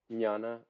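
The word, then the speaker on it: jnana: yeah it's no J it's no J you don't pronounce the J oh n Nana okay yeah okay theana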